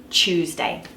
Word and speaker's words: Tuesday: the word tree and even the word Tuesday Chef Tuesday that's a real chewy T there's no are there it's just a straight sure Tuesday okay now the other